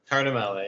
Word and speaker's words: Tartamella: I should have asked for him how to pronounce his last name. Is it Tartamella? Tartamella? It's Tartamella, yeah.